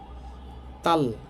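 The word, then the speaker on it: 딸: হ্যাঁ, তাল, সাংদিগতের উচ্চারণ হবে তাল, তাল মানে মেয়ে।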